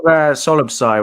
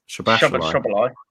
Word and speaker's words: Szoboszlai: Maybe if Solobsai was fit, or however you say his name, Szoboszlai.